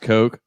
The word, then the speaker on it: Koch: It's pronounced Koch.